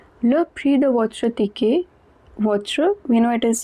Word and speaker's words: ticket: Coming back to the line number 5, le prix de votre ticket. Votre, we know it is the possessive adjective meaning your. Ticket, et at the end is pronounced as a.